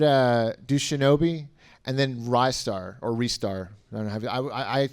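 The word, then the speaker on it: Ristar: did a video where they kept pronouncing it wrist star and they were saying it was the truth that it was wrist star and i was like no it can't be right rye star right yeah rising star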